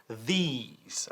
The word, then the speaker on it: these: These, not this, but these, con un sonido de I latina larga.